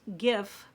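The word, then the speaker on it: GXVE: g x v e which I learned is pronounced give and that's the one Stephanie brand which I've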